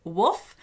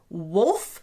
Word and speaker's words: wolf: Brits would pronounce as Wolf. So I have to work really hard to pronounce the L in that one.